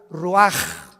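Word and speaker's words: רוח: Se pronuncia la ch en hebreo como J. Roaj, se le halló y se traduce espíritu.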